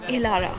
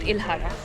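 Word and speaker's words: Ihlara: we are here at ilara Valley which is I think one of the most famous attractions in capparopia I've been pronouncing this place wrong it's called ilara not ilhara sorry about that and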